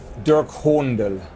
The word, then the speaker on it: Dirk Hohndel: again I'll make you actually say my name Dirk Hornell oh really yes whom the dirt honda yes